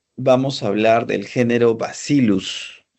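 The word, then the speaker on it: Bacillus: Bien, y para terminar y ya sean libres, vamos a hablar del género basilus. Se escribe vasillus, ¿no? Pero es el pero se pronuncia basilus.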